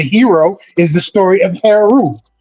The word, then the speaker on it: Heru: Heru and hero are phonetically the same word. Heru is who you might call Horus. The vowels are interchangeable. The O and the U are interchangeable. Instead of Horus, it's Heru. You know, but that's in